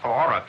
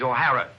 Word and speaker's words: O'Hara: do you remember saying my name is not aurora it is o'hara here mr o'hara yes